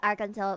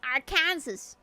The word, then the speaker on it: Arkansas: I you're lucky that I know how to pronounce Arkansas because I've seen so many people mispronounce it and get corrected. But people say Aransus. Is it our Kansas or is it Arkansas?